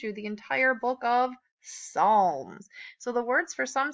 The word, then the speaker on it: Psalms: puss alms we just don't pronounce the P so it's P as a L and asks Psalms okay and that leaves our